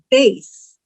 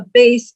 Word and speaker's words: bass: It can be pronounced bass, which is a type of fish, or it can be pronounced bass, which is a deep sounding voice. Or also a bass is a guitar that you play. Or in this sentence, a